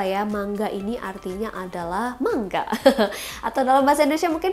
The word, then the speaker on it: manga: mangga ini artinya adalah mangga atau dalam bahasa Indonesia mungkin familiarnya komik kali ya guys ya ingat lo bacanya bukan manga awas loh deh ngomong manga lagi ya bacanya mangga Oke mangga ya Eh